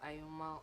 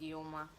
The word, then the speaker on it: Iyoma: welcome to my channel my name is iyoma i know most people pronounce it as ioma or other things but it's ioma so today's video is